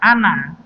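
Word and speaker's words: أنا: Nah, di sini pada kata ana itu ada alifnya, tapi alifnya tidak berfungsi. Nah, jadi bacanya ana di situ pendek.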